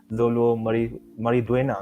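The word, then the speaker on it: Xolo Maridueña: Oh yang Blue Beetle tu pun aku excited juga sebab ada Zolo macam mana sebut pronounce nama dia? Zolo Mariduena nama dia.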